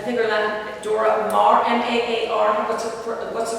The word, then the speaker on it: Maar: Dorothy Tanning, Frida Kahlo, I think her last Dora Maar, M-A-A-R, what's the pronunciation for that?